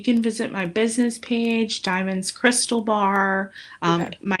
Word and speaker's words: Diamyn: I've known you over 20 years, everything that Diamond is saying like she's lived by like and